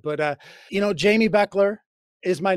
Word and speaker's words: Bechler: than Jamie and uh my last name is not spelled the way it's pronounced so I'm always getting my name butchered a little bit but Jamie Beckler but my dad my